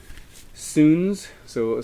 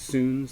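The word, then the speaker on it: Suuns: a Canadian band called Sun so some people mispronounce this as Suns but it's pronounced soon this is the witness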